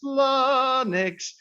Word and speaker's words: Flonix: out here we go f-l-o-n-i-x if you can e-spell it greedy will instead it's flanix they do i.t solutions